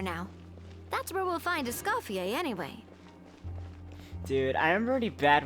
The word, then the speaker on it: Escoffier: Oh, Escoffier. Okay, that's how it's pronounced.